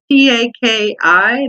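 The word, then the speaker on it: Takis: If anybody's ever had those Taki chips, Taki, that's how we pronounce it, Taki.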